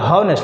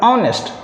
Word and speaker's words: honest: ठीक उसी प्रकार कि HONEST, अगर लोग बोलते हैं हॉनेस्ट, लेकिन ना बेटा लोग ऑनेस्ट। क्लियर हो गया। तो एच है ये मत समझिए अच्छा अच्छा कॉन्सोनेंट है, ना ना ना, उच्चारण पर जाना है तो ऑनेस्ट अ से बोलता है।